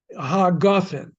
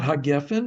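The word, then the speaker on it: הגפן: Hagafen, not hagefen, but hagafen.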